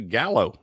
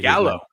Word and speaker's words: Gallo: It's actually Gallo, how you say Gallo.